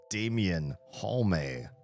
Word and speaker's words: Damian Halme: My name is Damian Halme. Every E is pronounced in my name.